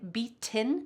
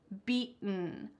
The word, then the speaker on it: beaten: we say be beat I'm not saying betin with a TT sound instead I'm swallowing that t sound it's in my throat almost beaten off the beaten path